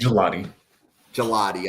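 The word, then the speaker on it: Gillotte: Next player, Ashton Gillott. Is that how we want to pronounce that? I think. Gelati.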